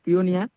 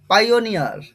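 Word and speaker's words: pioneer: পিওনিয়ার ঠিক এই উচ্চারণটা হবে না। এই উচ্চারণটা তোমাদের ঠিকঠাক করতে লাগবে ভাই। পাই, প্রথমে পাই, PI-তে পাই আসে। ONE, ওনি, ওনি। ER-তে আবার আসবে আর। তাহলে প্রোনাউন্সিয়েশনটা কি হলো? পাইওনিয়ার, পাইওনিয়ার। পিওনিয়ার হবে না, ঠিক আছে?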